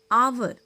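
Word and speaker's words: hour: honest, आवर, ऑनर, इन सभी में H silent है, लेकिन कहीं कहीं पर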